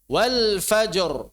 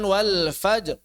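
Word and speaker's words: والفجر: Jadi cara bacanya sebagaimana adanya. Tidak ada yang dikurangi, tidak ditambah. Wal fajr, bukan wal fajr. Wal fajr.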